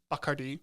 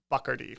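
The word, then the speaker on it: Bacardi: Uh, it's pronounced Bakardi.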